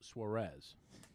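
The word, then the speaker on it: Suárez: It's Suarez.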